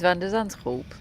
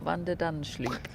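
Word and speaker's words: Van de Zandschulp: So is Van der Zandschulp, but it's not Van der Danschloop.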